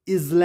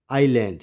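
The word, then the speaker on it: island: है चलिए आगे बढ़ेंगे एस एस is silent before L simple कि अगर एल से पहले एस होगा तो साइलेंट होगा इसको हम इजल नहीं पढ़ेंगे क्या पढ़ेंगे आईलैंड शायद इससे पहले आप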